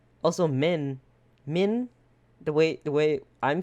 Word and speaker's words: min: Min? The way I'm saying it? Min? Yeah, That's that means stinky in our language. In Laos. and spell that one. Min. Min. It sounds like min. M-I-N.